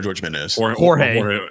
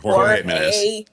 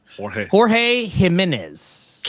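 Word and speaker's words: Jorge Jiménez: Batman Volume 4 by Matt Fraction and George Jimenez, or is it Jorge Jimenez or George Jimenez? Jorge Jimenez. Jorge Jimenez.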